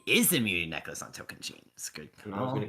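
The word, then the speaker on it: Tocantins: It is the immunity necklace on token chains. Good And I was gonna call. give him so much crap if he didn't pronounce it token sheens.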